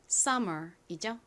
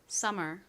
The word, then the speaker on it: summer: 이 단어의 발음은 summer이죠. M이 뒤에 있는 모음과 연결되어 독립하기 때문에 받침으로 넣지 않고 따로 써주셔야 됩니다. 발음 연습 같이 해볼게요. summer, summer.